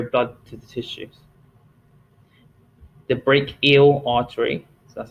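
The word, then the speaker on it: brachial: to the tissues the break eel artery so that's how you pronounce it so it's almost like break and then eel supplies blood to the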